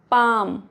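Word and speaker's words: palm: word के last में एल एम है तो साइलेंट होता है एल फॉर एग्जांपल पाम काम एल नहीं पढ़ेंगे साम साम नेक्स्ट रूल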